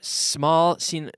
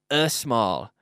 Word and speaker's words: small: fijar la pronunciación aquí, que estoy diciendo small y no estoy diciendo a small, que no hay ningún no hay ningún vocal.